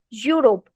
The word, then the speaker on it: Europe: Um, okay, you all are pronouncing it Europe and America. Okay, it's Europe. You use the word you. You together makes the yo sound. Yo. Okay, it's Europe and Europe, America.